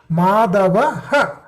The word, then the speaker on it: माधवः: There is a Visarga after Putra also, right? Is there a Visarga after this? Why are you not pronouncing this? Are you able to see this? Are you able to see this? Mama Putraha Madavaha. Mama Putraha Madavaha.